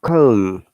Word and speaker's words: comb: If there's M before B at the end of the word, we must not pronounce it.